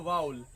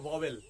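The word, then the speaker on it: vowel: से एक हमारा है वाउल, उसका जो प्रोनाउंसिएशन होता है, शुद्ध प्रोनाउंसिएशन होता है वो होता है वाउल। हम लोग नॉर्मली बोलते हैं वॉवेल, जबकि इसका शुद्ध प्रोनाउंसिएशन है, करेक्ट प्रोनाउंसिएशन है वाउल।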